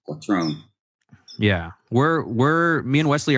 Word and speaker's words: Quattrone: So I think other Italians would pronounce it quattrone. But okay. Southern Italy is quattrone.